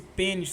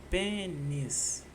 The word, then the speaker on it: pênis: Eu vejo se caralho tem paroxítona, se pênis tá certo mesmo. Porque pênis eu acho que é uma paroxítona também. Pênis. Pênis. São duas sílabas. E a sílaba tônica tá no pen.